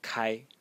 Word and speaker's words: 开: if we want to be pedantic it is pronounced Kai k and it means to open but originally